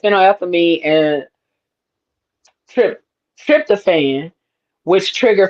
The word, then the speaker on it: phenylethylamine: is it fin la how that fin la phenylethylamine. That's what yeah, that looks like. yeah, Phenylethylamine. yep. Okay, And that puts the so is the that is love. one. Yeah, it contains compounds like phenylethylamine and trip, tryptophan, which trigger feelings of pleasure,